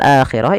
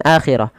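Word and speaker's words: الآخرة: Ah di sini pada lafal akhirah ini tidak dibaca dengan akhirah tapi dibaca dengan akhirah dengan dipanjangkan dua harakat.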